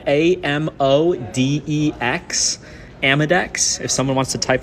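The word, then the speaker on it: Amodex: uh yeah Mike um there's a product called amadex it's spelled a-m-o-d-e-x amadex if someone wants to type that out in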